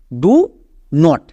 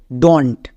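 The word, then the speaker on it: don't: ডু নট। ডু নট। এদেরকে একসঙ্গে উচ্চারণ করা হয় উপরেরটা। মানে এখানকার ওটা উঠে যায়। এর উচ্চারণটা হয়ে যায় ডোন্ট।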